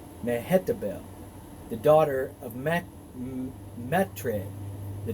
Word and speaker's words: Mehetabel: was pow pie and his wife's name was mahetta bell mehetabel the daughter of matre the daughter of mezahab